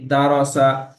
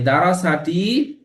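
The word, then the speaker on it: دَرَسَ: হয় টান দেওয়া নিষেধ যেমন দারসা তাহলে এই উচ্চারণটি হবে কি দারসা এই দারসাটি পাঁচ থেকে সাত বার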